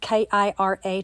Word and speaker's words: Kira: And if you notice at the very top, it says K-I-R-A twice. You pronounce that Kira Kira, and in Japanese, it means sparkly and shiny. Maybe that's what I'll name her. Kira.